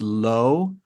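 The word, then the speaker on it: לו: for him in Hebrew so for him is pronounced low and it's spelled lamid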